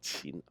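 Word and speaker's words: 秦: he gave China its name, the Qin dynasty, pronounced Qin.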